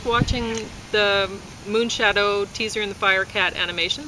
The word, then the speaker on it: Moonshadow: So the moon gets the accent. Shadow, not so much.